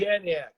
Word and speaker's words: Janiak: the director of the, how do you pronounce it, Janiak or Yaniak? Is it a soft J? Janiak. Janiak.